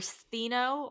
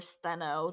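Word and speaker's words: Stheno: as her um and they were thino or steno their multiple pronunciations and uriel and so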